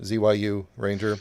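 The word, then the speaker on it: Zyuranger: there was because it's it's spelled like zayu zyu Ranger but in Japanese but I can imagine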